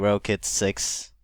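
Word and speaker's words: Rokit: new pair of krk Rocket 6 um rocket 6 actually they're pronounced like that and um uh when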